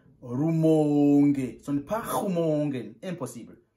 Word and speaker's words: Rumonge: On prononce Rumonge.